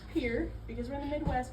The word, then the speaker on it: Pierre: So, the pier shell, which by the way, I know it's spelled Pierre, it's actually pronounced pier because we're in the Midwest and things are weird.